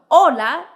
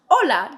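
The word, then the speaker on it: hola: two different letters next the silent h h is always always silent no no matter what it doesn't make a sound so Ola is pronounced Ola just don't say the H next let's talk about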